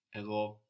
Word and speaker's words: εγώ: Where is the stress on these words? Εγώ, εδώ. At the end.